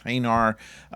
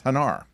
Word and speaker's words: Hanar: his attention he says hanar now the only reason that the pronunciation would be any different is because they've read it off a script and William Shatner memorized his lines and saw h-a-n-a-r and decided it was